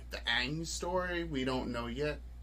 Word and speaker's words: Aang: Like, I watched a little bit of it, and I remember they kept calling him Ong instead of Aang.